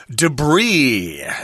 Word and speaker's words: debris: Now, we've got a word here, debris. Debris, that's a French word, so the S at the end is not pronounced.